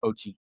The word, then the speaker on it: Ochi: It's Ochi. Ochi. Mochi.